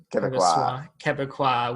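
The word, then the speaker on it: Québécois: I'll become a Quebecois wheelchair assassin. You'll never I had to look up the pronunciation for this podcast. It is Quebecois.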